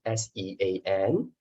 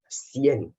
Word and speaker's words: Sean: Suppose we're going to pronounce as Sean lah, but they pronounce as 𝐶ian.